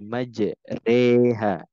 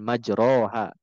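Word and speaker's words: مجريها: ayat 41 ini ya cara bacanya sekali lagi Bismillahi majreha wa mursaha Bukan majroha gitu ya Nah ini adalah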